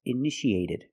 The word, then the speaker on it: initiated: You see T-I-A. How do we pronounce it? That's right, sh, sh. So how do we pronounce this word? That's right, initiate. In the present, initiate. In the past, initiated. The second T is between vowels, so we pronounce it like a fast D.